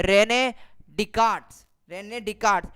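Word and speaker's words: Descartes: है Renee डिसकैट्स Renee डिस्कार्ट्स मैंने online जाकर गूगल पर जाकर प्रनंसीएशन देखा है यही बोलते हैं इसको रेमेडी कार्ड अभी आप लेंगे और उसके अंदर एस है कि वह साइलेंट है f4 साइलेंस चुप हो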